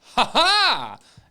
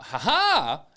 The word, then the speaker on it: Ha-HA: And just very specifically, it is spelled H, lowercase a, hyphen, capital H, capital A. It is, you have to enunciate and emphasize the second ha like you're a fencer, as Nightcrawler is.